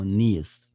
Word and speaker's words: NEADS: We call needs. Needs is the same pronunciation with NEEDS, but there's only one is called N, not E. It's A, NEADS.